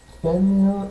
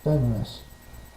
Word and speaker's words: Fenrir: This one's either pronounced Fenrir or Fenris.